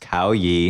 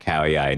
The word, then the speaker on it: Khao Yai: there, a national park that I believe is pronounced Khao Yai National Park.